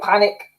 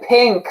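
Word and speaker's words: P!nk: is kelly clarkson or panic oh i've read that as panic at the disco but it's p exclamation point no both amazing vocalists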